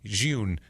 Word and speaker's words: Jhun: Because they were like Ronald June. It's Jun.